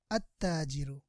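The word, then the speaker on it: التاجر: We will drop lam while vocalizing. We will not pronounce the lam while vocalizing, while reading. Just we will read alif and then the sun letter with shadda, with tashdid. That's why we will read at-tajiru.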